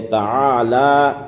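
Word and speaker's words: تعالى: وتعالی جدک، وتعالی جدک۔ یہاں لام میں یعنی تعالی، لام میں کھڑا زبر ہے اور کھڑا زبر میں کھینچا جاتا ہے، کھینچ کر پڑھا جاتا ہے، اس لیے کھینچ کر پڑھنا ہے، وتعالی جدک ولا الہ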